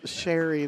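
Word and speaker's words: Shari: that's my dad's fault then it's because it's sherry the way my name is spelled sha RI is a derivative of sera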